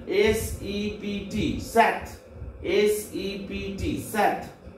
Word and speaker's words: sept: and French but the pronunciation is C's SIX pronunciation C's 7 SEPT SAT SEPT SAT 8 HUIT with HUIT with 9 NEUF NAF 9 NEUF NAF and 10 DIX this.